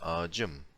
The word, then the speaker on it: ağacım: rengim, my color, or ağaç means tree. I mean the with leaves and branches, not the number. My pronunciation is probably confusing. I mean the tree, so not the number again. So my tree. So ağacım. When you put this personal ending on it, it becomes ağacım.